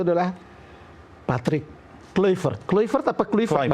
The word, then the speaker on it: Kluivert: Kluivert apa Kluivert bacanya?